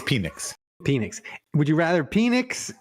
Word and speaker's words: Penix: I said to you would you rather Michael Pennock and Spencer Rattler both be penix it's penix penix would you rather penix and and Spencer